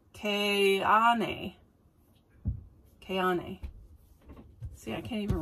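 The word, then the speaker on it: Keane: So, do you know how they say it? Ka-e-ne. No, the A is second. Ka-ne.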